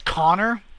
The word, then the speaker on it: Konej: Joel, yeah, I mean it's Connor, but like it's spelled Konej.